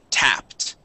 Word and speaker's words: tapped: two PS here uh instead of it being a long a sound like taped okay the word is tapped tapped okay yeah so that is a short uh short uh a sound and uh tap means